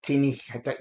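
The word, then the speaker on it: Teaninich: It's called Teaninch or Teaninch. You can pronounce it all sorts. I pronounce it Teaninch.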